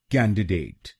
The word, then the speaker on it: candidate: कैन, डे, डेट, कैन, डे, डेट, कैंडिडेट, कैंडिडेट। और इसमें भी हम पहले शब्दांश पर यानी CAN पर जोर डालेंगे।